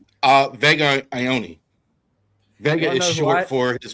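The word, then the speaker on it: Vega Ioane: Uh Vega Ioni.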